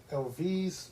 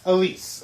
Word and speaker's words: Elyse: Yes, it's partially based on the true story of the murder of Elvise Marie Palmer. Am I saying this right? The name it's spelled Elyse. Elise, excuse me.